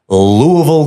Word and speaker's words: Louisville: Than Life Fest in Louisville, Kentucky. Louisville. Can't call it Louisville. Can't call it Louis or Louisville. Louisville. Oval. You're going to offend somebody if you say it wrong.